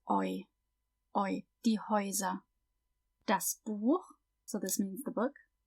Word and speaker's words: Buch: Please note that the CH in das Buch is pronounced ch, but in the plural, die Bücher, it's pronounced ch. That's because if the CH comes after A, O, or U, so A, O, or U, it has that guttural sound ch, and after everything else, it's ch.